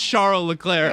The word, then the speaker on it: Charles Leclerc: Yeah, it's Charles Leclerc. Oh, I tried to spell it so His you'd friends get it call him right.